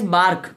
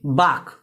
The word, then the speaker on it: bark: तीसरा है guys बार्क, BARK, बाक। बाक का गाइस में आर साइलेंट है, ध्यान रखना, इसमें आपको आर को नहीं पढ़ना है। लोग बोलते हैं बार्क, नहीं, इट्स a wrong pronunciation. So guys बाक इज अ राइट वर्ड।